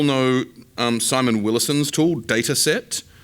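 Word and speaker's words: Datasette: I don't know if you all know um Simon Willis's tool data set, which is spelled s like data cassette.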